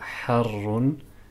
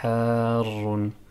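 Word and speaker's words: حار: Petite remarque sur le mot harrun, il faut bien prononcer la prolongation. On va pas dire harrun, mais harrun.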